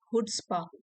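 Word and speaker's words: chutzpah: इट हैज to have that, यहाँ पे सी silent है, इसको बोलेंगे हुड्सपा। हुड्सपा ये एक नाउन है।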